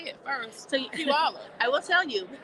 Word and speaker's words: Puyallup: So Puyallup. I will tell you. It's not... People from my town don't like my explanation. You say pew, like it smells, all, and up.